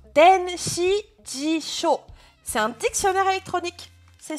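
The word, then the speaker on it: 電子辞書: Alors, le C, il se prononce denshijisho.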